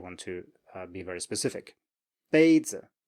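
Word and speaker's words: 杯子: So next up we have first tone plus neutral tone. And this one we looked at before in the lesson about the neutral tone, but let's do it here as well. So 杯子, cup, 杯子. So 杯 is high and flat, and then you have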